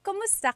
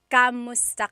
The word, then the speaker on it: kumusta: If you hear my pronunciation and then other people, when they say it, usually they say kamusta ka? Kamusta ka? So it sounds like it's spelled with a letter A, K-A-M, but technically it's spelled with a K-U-M. That's like the correct spelling of it. But the pronunciation usually is kumusta ka?